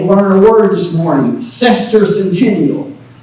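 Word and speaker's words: semiquincentennial: Cester centennial. Pronounce after me. Cester centennial.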